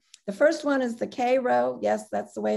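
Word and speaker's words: Cairo: the first one is the k row yes that's the way it's pronounced rosenwald school in tennessee notice those windows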